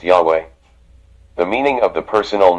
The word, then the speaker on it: Yahweh: Many Greek transcriptions also indicated that Yahweh should be pronounced Yahweh.